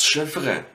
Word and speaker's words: Chiffre: The next one is written with a CH again, but it is pronounced like a sh, like a SCH. So, words like that might be das Chiffre.